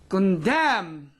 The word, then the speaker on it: condemned: silent it is for example Paul autumn yes condemned condemned condemned now in derivation condemnation exception is